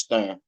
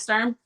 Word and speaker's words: Sturm: who who do you think won oscar versus stern did i say his name right yeah felix sturm um honestly i i don't even remember the